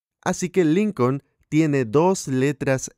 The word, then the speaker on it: Lincoln: n así que el lincoln tiene dos letras l cuando lea la palabra lincoln no pronuncie la segunda letra l un line reed de